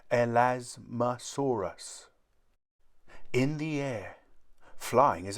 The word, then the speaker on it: Elasmosaurus: are like flat plates how do you say it elasmosaurus say el asmasaurus in the air flying